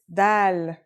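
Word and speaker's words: دال: notebook ready let's go our first letter is DAL it's just like the English D very easy to pronounce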